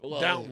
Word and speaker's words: Downton: Downtown Abbey? No, yeah, Downton, actually.